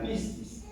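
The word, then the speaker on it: πίστις: Juan para escribir fe es una palabra griega que se pronuncia piscis y y piscis significa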